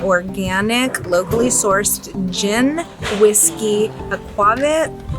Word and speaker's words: aquavit: Right here on the west side of Santa Cruz, specializes in small batches of organic, locally sourced gin, whiskey, aquavit, you say it like that, aquavit, and blue agave spirits.